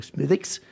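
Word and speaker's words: Smithwick: Die Familie, die Brauerei, das früher eine Familienbrauerei war unter der Familie Smithicks. Was ist sehr schwer auszudrücken. Vor allem ist es ganz anders ausgesprochen, als es geschrieben ist.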